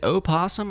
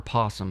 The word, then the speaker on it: opossum: You say it without the O. That's what I thought. That is what I thought. Yeah. You write it with the O for sure. That's how it's spelled. Just never heard of a silent O, I guess.